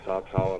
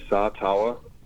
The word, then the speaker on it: Sataoa: Yeah, my name is Sataoa. Okay, wait. Say that one more time. Yeah, Sataoa Sataoa.